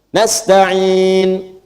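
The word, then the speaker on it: نستعين: Kalau mati jadi sukun ujungnya nastain iyaka na'budu wa iyaka nasta'in.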